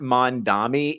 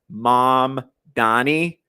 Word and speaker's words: Mamdani: I can't tell if it's, I know it's not Mondami, it's Mom Donnie, Mom Dami.